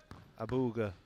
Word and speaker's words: Abouelghar: He's not happy about saying his name wrong, by the way. It's Abouelghar. Abouelghar.